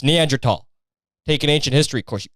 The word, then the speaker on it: Neanderthal: And that's the way it's pronounced, by the way. Neanderthal. It's not Neanderthal. And if you say it that way, you're fucking one of them. It's Neanderthal.